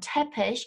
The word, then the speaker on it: Teppich: ich i-g and again-ish note the exact same pronunciation there even though the spelling's different as in foisling essege and tepes right and these words